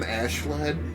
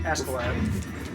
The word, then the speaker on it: Askeladd: Do they call him Ashlad? Like, do they properly? Askeladd. That's not how that's not how his name's pronounced. Why did they do that? I don't know. His name literally means Ashen Lad.